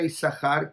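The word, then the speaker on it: יששכר: tribu de y sahar y sahar se escribe con dos sin quiere decir yo puedo separar la palabra y sahar que diga y es dejar hay compensación de acuerdo a nuestra tradición decimos y sahar no mencionamos dobles y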